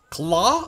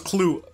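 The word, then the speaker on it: Klaue: to their leader claw claw i thought it was clue i mispronounced that like crazy i gotta remember how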